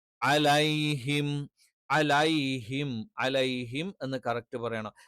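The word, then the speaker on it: عَلَيْهِمْ: അതുകൊണ്ട് തന്നെ അലൈഹിം, അലേ എന്ന് എകാരമായിട്ട് ഒരിക്കലും പറയാൻ പാടില്ല.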